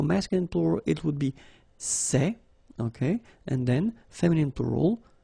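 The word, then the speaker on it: ces: one form okay and it's say okay remember open Say Say Say Okay one example s so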